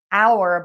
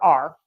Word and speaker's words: our: church and said, "Okay, you say this word is pronounced hour, but I hear are." Both are fine, and so I have a video lesson on that, too.